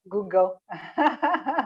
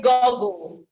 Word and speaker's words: Google: let's go g-o-o-g-l g-o-o-g-l google google google i used to say i used to say goggle the goggle is different yes the juggles some form of glasses yes so it's google there is also how